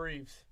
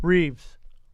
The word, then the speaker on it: Reeve: his name a Christopher Reeves how do you say his last name again Reeves what is his name say Christopher reev right down the middle again so people remember